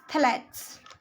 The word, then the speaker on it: phthalates: तो दो सबसे खराब जो टाइप के प्लास्टिक्स है वो है PVC एंड phthalates, pronounced as phthalates.